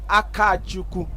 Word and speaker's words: Akachukwu: I just been told or corrected that it's Akachukwu. That's the correct pronunciation, but I just want to leave it as Captain Chima.